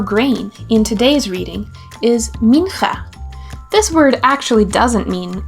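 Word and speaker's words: מנחה: Mincha is spelled like this: Mem, Nun, Chet, Hey. Let's say it together. Mincha.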